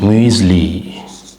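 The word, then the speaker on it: Müsli: Greece Greece Greece வாழ்த்து greetings வாழ்த்துன்னு அர்த்தம் மூஸ்லி மியூஸ்லி மியூஸ்லி மியூஸ்லி மியூஸ்லி மியூஸ்லி மியூஸ்லி அது வந்து ஒரு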